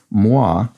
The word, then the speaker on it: moi: to a cr a clue moi which functions as the phonetic pronunciation of ma was great so that's